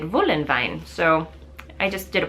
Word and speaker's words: Voolenvine: is from Germany, so all the W's are pronounced with a V in German, so I did Voolenvine.